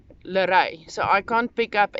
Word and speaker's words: Leré: level actually calls me Leré, which is spelled Lere with a little stripe on the last E. Pronounced similar to Renee, so it's Leré. In English, Leré. The R is a very Afrikaans sound.